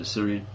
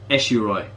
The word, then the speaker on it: Ashuri: Yeah, you have to take that with an Assyrian. Pronounced Ashuri. Assyrian is the Anglicized version, that's the Anglicized version of the name Ashuri.